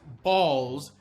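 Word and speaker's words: Bols: irrelevant characters almost not worth mentioning such as balls that's spelled b-o-l-s not b-a-l-l-s and another character named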